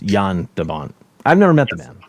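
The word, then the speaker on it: Jan de Bont: you know excuse me mike is saying it's produced pronounced yan dabant i've never met the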